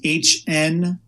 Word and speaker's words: Hnilo: So last name is Hnilo. The H is silent.